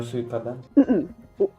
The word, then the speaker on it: Suikoden: Do you know Suikoden?